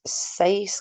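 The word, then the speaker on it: seis: You might want to consider the number 6, size, like the word slice with the L move.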